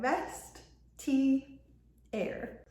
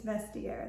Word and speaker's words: Vestiaire: Today I am talking about vestier collective and yes it is pronounced vestair like vest air. Um I used to say vestair that's not right. It's vestier.